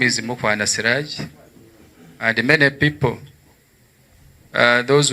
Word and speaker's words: Mukwana: that one very well, instead of saying Mukwana, they have always changed that last A and they put it there O.